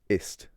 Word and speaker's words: ist: I remember in first year of college, there was a guy who pronounced the German. So the German word for is ist, right?